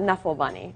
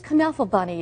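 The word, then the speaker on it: Knuffle Bunny: another and it's because it's German so the K is actually pronounced it's an adorable book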